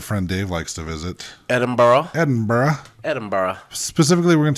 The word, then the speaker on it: Edinburgh: guess that's how it's not spelled phonetically no but that's how you learn how to speak in their accent though cuz you say yeah when you say it like that it's uh Edinburgh Edinburgh yeah um yeah it totally looks like Edinburg um but that that